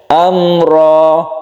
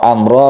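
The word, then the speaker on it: أمرا: jelas terang itu ya Amro rnya kita baca panjang cuma satu Alif saja ro Amro rnya ini adalah merupakan Mad Iwat Iwat artinya ganti Apanya yang diganti yaitu tanwin diganti menjadi Mad Amro ini bacanya satu Alif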